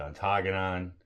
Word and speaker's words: Ontonagon: It's Baraga, it's Ontonagon. Big Papa's the one that corrected our pronunciation, not pronunciation.